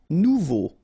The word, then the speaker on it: nouveau: Nouveau. Remember, combination of A and U together, it's O. So you get nouveau.